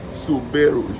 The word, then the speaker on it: Subaru: In Africa we say Subaru. You have to pronounce all the syllables.